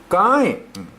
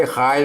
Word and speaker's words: ก้าย: เป็น โกะ นะ ครับ ตัว นี้ อ่าน ว่า ก้าย นะ ครับ ไม่ ใช่ ค่าย ไอ้